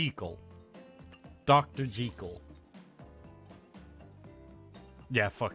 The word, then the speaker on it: Jekyll: only stay for six hours uh Jackal is pronounced according to the author as G Cole J equal Dr jekal yeah that Dracula also got